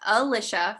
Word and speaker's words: Alicia: up, but it's pronounced Alicia for those of you that haven't met me before. And you are what to make it stick. My family calls me or.